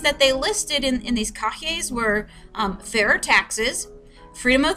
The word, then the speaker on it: cahiers: prepare what are called cahiers. It doesn't look like that. That's not how it's spelled.